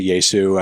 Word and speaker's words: Jesu: Along with people from Neurosis and Godflesh and Jesu. I think that's how you pronounce it. I say Yesu. I think people say it a couple different ways.